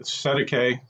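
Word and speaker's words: Cestui Que: Cesti Que Trust is pronounced Cesti Que, common term in New Zealand and Australia, or straw man.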